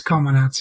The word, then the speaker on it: Comanauts: I'm really interested in Comanauts, which I'm wondering now if I'm pronouncing that game wrong, because I realize that the person in it is in a coma. It's Comanauts, yeah.